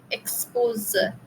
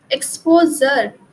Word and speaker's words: exposure: Exposure. No. Exposure.